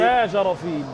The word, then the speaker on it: Bajrafil: un amoureux de la précision, m'aider à le prononcer. Vous allez peut-être nous indiquer. C'est Bajarafil.